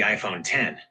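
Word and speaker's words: iPhone X: They released the iPhone 10, pronounced 10 as the futuristic anniversary model.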